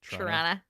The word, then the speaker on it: Toronto: That's how you say it, right? Trana. Tyana. Yep.